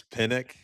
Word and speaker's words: Penick: success to Penick's teachings, or Penick, Penick. Yeah, I was Um, gonna say, we might be getting to the no laying up, yeah, Neil Schuster, mispronunciation. I think it's Pinnock.